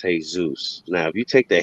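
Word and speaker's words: Jesús: the word jesus but if you say it in spanish it's hey zeus now if you take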